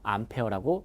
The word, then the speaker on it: 암페어: A라고 쓰고 읽을 때는 암페어했죠. 즉요 관계를 잘 설명한 과학자가 앙페르라는 과학자예요. 그분의 이름을 따서 암페어라고 읽는 겁니다.